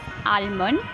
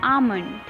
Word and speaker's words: almond: Now here the word is almond, which is commonly mispronounced as almond, but it is actually almond.